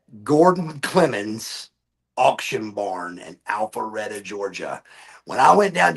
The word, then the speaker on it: Alpharetta: Alpharetta. Alpharetta. Okay. We were talking about we were talking about pronunciations earlier.